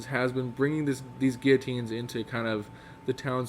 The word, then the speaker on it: guillotine: is executed via the i think i've heard it pronounced with the l's guillotine guillotine i think there are l's in it there are l's but frenches make any sense anyway so the guillotine